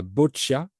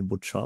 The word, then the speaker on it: boccia: Alors, euh, je connais un peu l'italien, j'apprends l'italien, donc théoriquement, je prononce bien, mais la boccia, Ok, oui. Bon, moi, j'aurais prononcé boccia, mais parce que je parle pas l'italien.